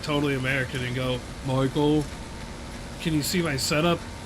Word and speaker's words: Michael: It's with an L. With L. Oh, so it's Michael. It is Michael.